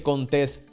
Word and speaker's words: Contés: Mi nombre es Contés, con acento en la E, y este es el podcast que nutre tu mente con ideas innovadoras.